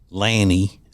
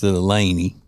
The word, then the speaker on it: Laney: They called her Lanny instead of Laney. They pronounced it Lanny.